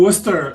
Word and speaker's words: Worcester: president for University advancement at Clark University in Worcester Massachusetts welcome Joe welcome welcome to Worcester and thank you for pronouncing it the right way well my brother